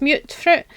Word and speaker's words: mutfruit: So, the next part is mute fruit. Um, and apparently the official pronunciation is mute fruit. Um, not mut.